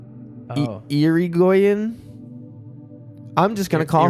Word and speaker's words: Irigoyen: This is how you pronounce the name of the Robert who owned the house. It is Irigoyen. Irigoyen.